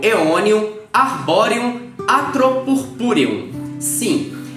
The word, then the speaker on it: Aeonium: Eu imagino que, geralmente, você deve pronunciá-la como aeonium, que é do mesmo jeito que se escreve, não é mesmo?